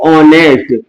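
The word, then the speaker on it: honest: करता है तो इस एच ओ एनई एसटी को हम बोलते क्या है इंग्लिश में बोलते हैं हम इसको ऑनेस्ट क्योंकि इसका जो एच शब्द है ये क्या है साइलेंट वर्ड है तो साइलेंट वर्ड हमेशा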